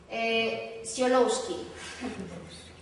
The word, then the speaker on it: Tsiolkovsky: Tsiolkovsky. Sin pronunciar la K que está ahí.